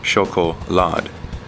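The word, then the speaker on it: Schokolade: AO for the record he German word for chocolate is pronounced shoko L like Bin Laden without the end if you've seen struggle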